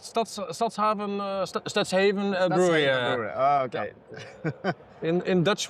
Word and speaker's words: Stadshaven Brouwerij: Stadshaven Brouwerij. Brewery. Oh, okay. In Dutch we say Stadshaven Brouwerij.